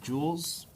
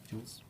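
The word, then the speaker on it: joules: j o u l s that's how you pronounce it Jewels like bejweled Jewels but it's j o u l s okay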